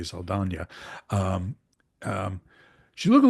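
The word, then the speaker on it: Saldaña: Zoe Saldana is, and I'll try to pronounce her name the proper way, Saldana.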